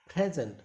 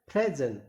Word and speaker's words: present: Next present, प्रेजेंट, यानी कि एज a noun. Once again यहां पर जो यूज हुआ है वो नाउन यूज किया गया है, तो आंसर नाउन. तो कैसे बोला गया, प्रेजेंट, प्रेजेंट, प्रेजेंट.